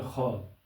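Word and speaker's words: خواب: और ख्वाब, तो ख्वाब जो है यहाँ पर खे अलिफ बे, यानी प्रोनाउंसिएशन में ऐसे हमें पढ़ना पड़ेगा, तलफ़्ज़ का यही है लेकिन लिखा ऐसे जाएगा, तो इसको कहते हैं वाव मादूला।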